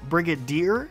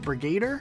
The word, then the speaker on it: Brigadier: heard also another type of armor and rank Brigadier it's not Brigade er now some of these can actually change based